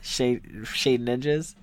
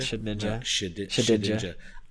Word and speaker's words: Shedinja: Yeah, I don't know how to say the name. Shade Ninja sounds better. Shade Ninja? Shedinja. Shedinja.